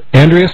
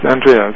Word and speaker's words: Andreas: we are talking with Andreas of the energy Chi Wellness Center I I hope I'm pronouncing your name correctly um is it Andre or yes Andreas and okay cuz I